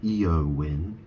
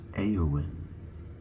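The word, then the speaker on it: Éowyn: y n a o n obviously it's not EO win or EO wine it's aoin it's pronounced like a aoin um you know why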